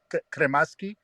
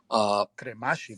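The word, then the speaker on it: Kremaschi: First of all, am I the only one that pronounces his last name as Kremaski? Am I the only one? It's Kremashi. It's Kramashi.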